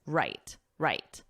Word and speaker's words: write: Of course, write is the is pronounced the same as right, the opposite of wrong, but in this case, it's right. The W is silent, so phonetically, it would just look like this, right, right.